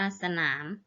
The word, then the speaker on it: สนาม: อ่าน ว่า สะ นัก เรียน จะ เห็น ว่า คำ คำ ที่ คุณ ครู อ่าน เมื่อ กี้ นะ คะ ออก เสียง อะ หมด เลย นะ คะ คะ ด้าน หน้า นะ คะ แต่ ออก อะ ครึ่ง เสียง นะ คะ ออก เสียง อะ กึ่ง เสียง แต่ ไม่ มี รูป